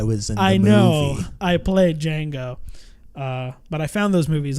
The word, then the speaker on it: Django: the actor that played Django so that's why that's why we need the D is silent he's like I know I know I was I know I played Django but I found those